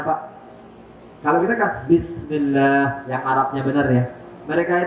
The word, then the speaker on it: Bismillah: yang ngangkat-ngangkat sayur gudeg itu, apa coba Pak bacanya Pak? Kalau kita kan Bismillah, yang Arabnya benar ya. Mereka itu Pak, yang namanya orang Jawa, bacanya Semelah kata.